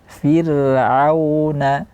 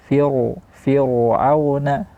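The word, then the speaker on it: فرعون: firauna wa tsamud firauna sering juga terjadi kesalahan membaca ro di sini secara tebal namun yang benar adalah di sini tipis. Kenapa? Karena di belakangnya ada huruf yang berharakat kasrah. Cara bacanya firuna. Nah, yang keliru adalah firuna ditebalkan.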